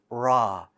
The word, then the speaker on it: ر: right the bumpy side whereas the r in the english language is further back raw it's almost closer to this smooth side and kind of away from the bumpiness so if you find yourself pronouncing an r move your tongue closer forward and that should eliminate the sound of the r and give you a nice raw sound how to recognize the